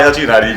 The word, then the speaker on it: Huckebein: WHERE DOES ONE GO TO BUY HUCKEBEIN? HUCKEBEIN… AT A HOBBY STORE OF COURSE!! HOW DOES THIS PRONOUNCED AS XIAO JI BA? IT SHOULD BE PRONOUNCED AS HU-CKE-BE-IN I THINK THIS IS IN GERMAN OR NOT?